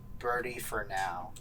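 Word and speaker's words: Bertie4now: but it's this gentleman by the name of birdie for now bertie birdie for now which is spelled bertie the number four and just now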